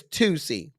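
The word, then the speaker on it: Toosii: Is it like the deodorant? It's not spelled like the deodorant. It's spelled T O O S I I. Now, I don't know if that's like that nast deodorant, Tussy. I think it's Tusy.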